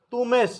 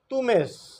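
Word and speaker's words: Θωμᾶς: شکل جو ہے وہ تومیس ہے۔ یونانی اس کا تلفظ جو ہے تومیس۔ مقدس متی رسول، نئے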